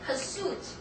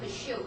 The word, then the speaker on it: pursuit: And pursuit. Pursuit. Don't say pursue, okay? Pursuit.